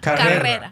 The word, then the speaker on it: Carrera: Carrera. Carrera. Roll your R's.